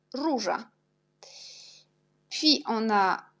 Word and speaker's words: róża: Et o avec l'accent, on prononce u jak róża.